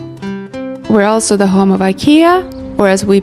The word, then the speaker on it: IKEA: We're also the home of IKEA or as we pronounce it, IKEA along with Spotify, Volvo, and the our local cheese slicer.